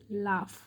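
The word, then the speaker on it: laugh: জি এর silent word যেমন এল এ ইউ জি এইচ, এল এ ইউ জি এইচ, লাফ।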